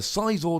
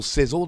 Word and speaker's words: Scizor: to be play a mega ciz or deck or Sizzle depending how you want to pronounce it and on the